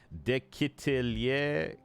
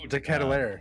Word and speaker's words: De Ketelaere: But I'm curious to see how the I don't know how to say his last name. De Ketelier or something. Charles, the Belgian kid they just signed. De Ketelaere, yeah.